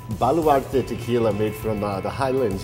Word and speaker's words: Baluarte: Baluarte.